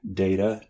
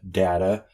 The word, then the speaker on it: data: word has alternate pronunciations, like data, data, the British data, or if one of them is actually a mispronunciation.